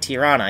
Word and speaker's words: Tirana: Okay, Tirana? Am I pronouncing that right? Tirana, yeah.